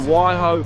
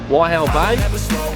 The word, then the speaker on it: Waihau Bay: We are now in Waihau Bay. Is that how you say it? Waihau? Waihau? Waihau Bay.